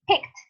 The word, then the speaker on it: picked: So we add the ed ending, and the pronunciation is the same. Ed, it's equal to say a kind of a T. That's why we say picked.